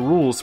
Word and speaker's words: Rouxls: The Rouxls, pronounced Rouxls, are simple.